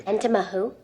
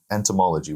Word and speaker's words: entomology: Entoma who? Bugs and fairy tales. Dude, entomology. Why did you add an extra syllable?